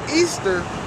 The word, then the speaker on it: Ishtar: It says in parentheses, not parentheses, a quote, quotation marks, Ishtar, which is pronounced Easter, was a day that